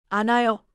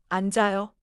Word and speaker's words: 앉아요: I see 앉아요. Don't say 안아요. 앉아요.